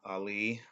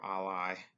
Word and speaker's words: Alai: The brewery started in 2009, Cigar City in Tampa, Florida, by two guys, now the owners, and Ali or Alai, for however you want to pronounce it, is their signature beer.